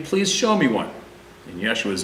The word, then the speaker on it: Yeshua: In Yeshua's name, I pray, Amen. Yeshua is Hebraic pronunciation of Jesus.